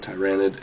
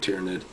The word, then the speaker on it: tyranid: guys I tell you I always call it tyrannid it's like engraved in me even though everyone pronounces it tyranid so um bear with